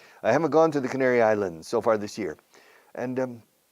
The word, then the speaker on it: Canary Islands: The Canary Islands. Practica esta palabra. The Canary Islands. Spanish speakers have trouble pronouncing that region of Spain.